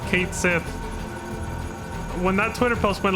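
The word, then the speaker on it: Cait Sith: they saw that that that K she was going to be pronounced Kate Sith when that Twitter post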